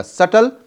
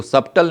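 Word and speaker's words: subtle: Obvious एगजियस या फिर glaring और इसका एंटो हो जाएगा सटल। इसको सबटल नहीं बोलते हैं। सटल बी साइलेंट है।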